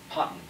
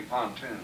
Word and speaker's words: Ponton: Ponton. What's that? Well, you would say pontoon. Pontoon. Ponton. We were a bridge company, but we heard from day one it's Ponton, spelled with one O.